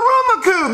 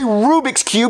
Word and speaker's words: Rubik's Cube: daddy that's not a Ruma Cube that's not what I wanted yes it is Jeffy that's a Rubik's Cube you're just saying it wrong I never said I